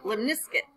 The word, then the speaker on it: lemniscate: This is called a lemniscate. Like biscuit, lemniscate.